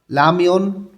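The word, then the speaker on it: 라면: খিমবাপ খিম্বাব উদং উদং লামিয়ন নুডুলস এখানে রিউলটা ল এর মত উচ্চারণ হবে লামিয়ন নুডুলস খিমচির চিগা খিমচির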